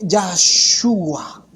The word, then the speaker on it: Yahshua: Y este nombre, ¿cómo se pronuncia? ¿Cómo se dice, mi hermano? Se dice Yahshua.